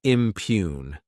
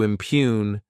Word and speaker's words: impugn: Next is the verb impugn. To impugn, this word has 2 syllables, and the stress is on that second syllable.